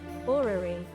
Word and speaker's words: orrery: How to pronounce orrery? Orrery.